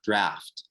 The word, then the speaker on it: draught: the many meanings of the word draft, excuse me, not drought, draft, which is spelled in the British style in the title.